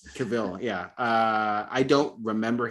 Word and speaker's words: Cavill: Wait, you're saying Henry Caval? Yes, I'm saying his name wrong, but yes. Cavill.